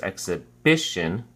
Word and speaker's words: exhibition: we say exhibition the stress is on the fourth syllable x i mean the third syllable so it's exhibition where in the noun